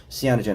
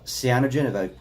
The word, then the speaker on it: cyanogen: the comet has inside of it, the comet in particular, the Christmas comet, has something called cyanogen.